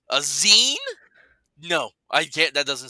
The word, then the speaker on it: zine: Zine is pronounced as zine like magazine.